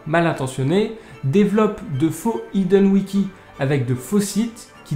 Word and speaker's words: Hidden Wiki: Et arrêtez de me dire dans les commentaires que ça se prononce Hidden Wiki, s'il vous plaît. Parce que ça se prononce vraiment Hidden Wiki.